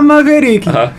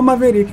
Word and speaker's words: Maverick: maverique Não aceita é chamar a maverique é o maverique né então é a questão da pronúncia assim não tem tanto problema mas é o maveric mesmo o maveric inclusive né